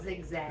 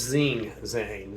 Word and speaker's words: Zing Zang: It's zigzag. Zigzag. No, it's Zing Zang.